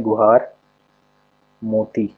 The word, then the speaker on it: गुहार मोती: आ ही जाएगा हिंदी में इसको बोलते हैं गुहार मोती ठीक है इंग्लिश में इसका ये जी एच